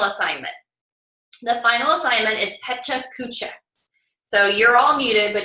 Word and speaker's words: Pecha Kucha: It's not Picha Kucha, although I won't make fun of you if you say it wrong, but it's Pecha Kucha, as far as I understand.